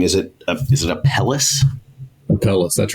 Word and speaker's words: Apellis: Apellis, that's right.